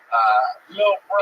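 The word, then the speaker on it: Lil Brough: He spells bro with 3 silent letters at the end. Lil Bro.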